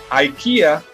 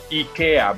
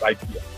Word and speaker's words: IKEA: the uh the lesson ikea that's not how it is pronounced it's ikea because it is the the swedish pronunciation but here in the states everybody calls it ikea there's the welcome sign